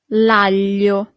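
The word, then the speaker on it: aglio: Here we have this combination of letter that for foreigners is always a little bit e hard to pronounce. Sorry. It's g a l i. That's the sound.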